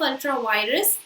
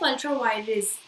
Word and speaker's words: ultra vires: So yes, the doctrine of ultra virus, and just a second, the pronunciation is not doctrine of ultra virus, that is doctrine of ultra virus.